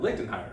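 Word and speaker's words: Lichtenhainer: called the lichtenheiter that that sounds really dirty if you don't pronounce it correctly but it it's uh LinkedIn higher it's basically if you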